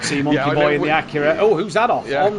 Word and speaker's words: Acura: monkey boy in the Acura. Oh, who's that off on the inside line? There was D on the inside. There is, as we say, it's actually pronounced Acura. We've been saying it wrong all this time.